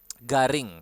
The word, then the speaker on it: garing: So yeah, garing. Again, we have R here. You need to roll your R, and then we have a nasal sound, ing, garing.